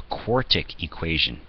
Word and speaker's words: quartic: A quartic equation, that's how you pronounce one with largest exponent as a 4, might have 1, 2, 3, 4 possible answers out of it.